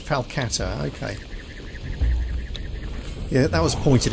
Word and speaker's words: falcata: us around here yeah I've been pronouncing the name of this weapon wrong falata yeah I've been calling it a faka all this time it's a falcata okay yeah that was